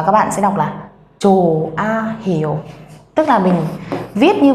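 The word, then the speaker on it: 좋아요: Cho nên chúng ta sẽ không đọc là chốt hay là chồ ha, mà các bạn sẽ đọc là chồ a hiểu.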